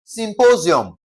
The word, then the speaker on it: symposium: The rule is if a word ends with ium or um, we're going to stress the second to the last syllable. Okay? We're going to stress what now? The second to the last syllable. So, in this case, what are we going to stress? We're going to stress what now? Sym po sium, okay? Po, okay? Emphasis should be laid on po, okay?